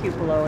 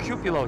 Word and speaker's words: cupola: Cupola. See, we were wondering how to say that, and you said it. We were like cupola, cupola, and you said it right.